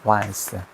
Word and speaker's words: once: Once 원 once 어 요거는 이게 once 이렇게 발음이 다거든. 원스.